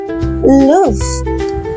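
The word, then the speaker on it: luve: love atau cinta and in Scot pronunciation We call this word lo ya loof because ini membuat nadanya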